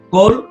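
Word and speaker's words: כֹּל: Y la segunda regla nos dice que siempre es O en estas tres palabras, Kol, Shorashim y Kodashim. Siempre es O, nunca es A.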